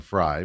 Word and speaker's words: Frey: Autumn Fry, but okay. Yeah, you say it how you want to say it. I I jokingly say it Frey because it's it's spelled that way and she gets so